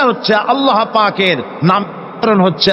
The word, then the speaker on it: আল্লাহ: আল্লাহ পাকের উচ্চারণটা হচ্ছে আল্লাহ পাকের নাম হচ্ছে আল্লাহ মুখটা একটু গোল হয়ে যাবে বলেন আল্লাহ আল্লাহ আল্লাহ পৃথিবীতে বিভিন্ন